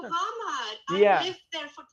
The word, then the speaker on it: Hamar: I come to Hamar, right? Did I pronounce it correctly? Finally. You're going to Hamad.